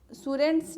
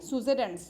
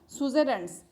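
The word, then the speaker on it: suzerainty: साथ डील किया था, ये जो सुरेंट्स जो है ये एक पॉलिसी होती है, सुजेरेंट्स, सॉरी गलत मैंने प्रोनाउंस किया, सुजेरेंट्स।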